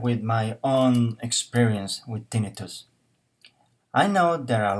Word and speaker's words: tinnitus: I don't know, so I just googled it, and I find out that this is how it should be pronounced. So let's hear it. Tinnitus, Hmm, did you get that?